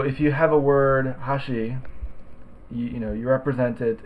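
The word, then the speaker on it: 箸: attempt it would be Hashi is chopsticks how she is bridge and Hashim is Edge so three different words um in Hashi the accent is on the first Mora huh um in Hashi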